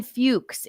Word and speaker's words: Fuks: It's Fuches. It's Fuks without the C. So it's Fuches.